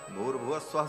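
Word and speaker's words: भूर्भुवः स्वः: तीनों को जब एक साथ उच्चारण किया जाता है तो ओम भूर भुव स्वाहा ऐसा हो जाता है। विसर्ग को र हो के और फिर वह र ऊपर चला जाता है तो भूर भव स्वः ऐसा उच्चारण होता है।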